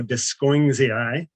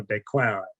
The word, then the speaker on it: Descoings: Technically, with commemorative names, you want to pronounce the name somewhat like the person who's being honored. So this aloe is named after the French botanist Bernard Descoings.